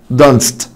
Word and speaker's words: danced: اي دي، dance dance danced danced danced. وانا حبيبي بعد الساه ساوند الاي دي بتنطق تاه، dance danced dance danced.